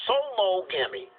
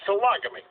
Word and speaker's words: sologamy: it's called sologamy sologamy I wanted to pronounce it solo to get people to word to root sologamy it's sologamy if the secret to